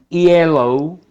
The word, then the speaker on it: yellow: La Y escrita en inglés se pronuncia como una I, una semivocal. Entonces veamos la diferencia ya en estos pares mínimos que son consonánticos. Una cosa es yellow.